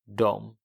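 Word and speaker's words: dem: Till dom. So the pronunciation is the same. Dom in the beginning, but it's just spelled differently. You had one was D-E, the other one was D-E-M.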